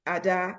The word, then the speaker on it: Ada: You know, like I always say to people, my name is Ada, as in adaptable. Oh, okay. That's a good way. Yes. Yeah, because people are very quick to say Ada, and I'm like, no, no, no, no, no.